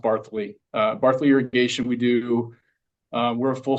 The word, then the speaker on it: Barthuly: It looks like Barthuly, but it's actually pronounced Barthuly.